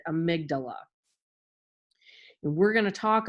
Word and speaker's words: amygdala: of a funny word it looks like it's amy something but you pronounce it amygdala and we're going to